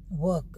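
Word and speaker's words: work: Walk, वर्क, इसमें are silent, ठीक है।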